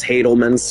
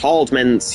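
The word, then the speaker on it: Haldeman: I used to mispronounce them as Hadelman's for so damn long. You're pronounced Haldman's, you dumbass.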